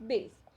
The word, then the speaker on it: bass: बी ए एस ई बेस और इसकी क्या स्पेलिंग है बी A double S बेस तो इन दोनों में क्या डिफरेंस है जो